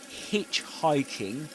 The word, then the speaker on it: hitchhiking: Um before this before this we should say that in hitchhiking you stress the syllable hitch.